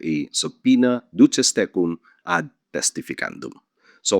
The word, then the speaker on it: subpoena: The original Latin pronunciation is subpoena subpoena. But most lawyers now pronounce it using the Anglicized pronunciation subpoena subpoena with a silent b.